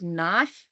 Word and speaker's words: knife: we take the word knife it's starts with a K on the page and the K is silent so we need to